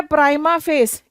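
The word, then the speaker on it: prima facie: अच्छा, ये जो है प्राइमा फेस, इसका यहां पर स्पेलिंग मिस्टेक है, दिस इज द आंसर।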